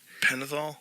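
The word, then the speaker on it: Pentothal: Penithol.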